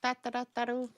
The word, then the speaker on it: Taru: I like to pronounce it. Taru. That's correct.